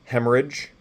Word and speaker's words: hemorrhage: only pronounce the T with this rrh type of stuff then you just pronounce it as if there is no RH in the middle so rage so hemorrhage so Ridge Rhea rhinorrhea